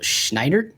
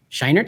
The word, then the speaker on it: Scheinert: daniel daniel kwan and daniel schneider schneid schneidert scheinert i think that's how you say it um they have